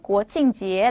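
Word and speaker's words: 国庆节: 똥 지에 라고 하고요 국경 절은 코칭 지에 라고 발음을 합니다 그냥 해가 들으시면 됩니다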